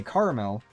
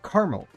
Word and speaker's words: caramel: And if you didn't know, I am making a distinction in how I pronounce caramel and caramel. Um, and especially like you have to be really paying attention, but I actually don't say caramel. I say caramel as in with one A.